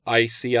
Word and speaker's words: ISEAI: Fox last week, and the organization she talked about, ICI, and that's spelled ISEAI.